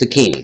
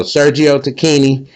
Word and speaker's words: Tacchini: to look it up on YouTube and it's pronounced Tini. So, Sergio Tini, shouts out to them, man.